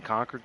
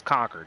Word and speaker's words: Concord: like the whole lexington concord thing and he pronounces it correctly it's conquered not concord sometimes they'll say concord like i try not to but yeah it was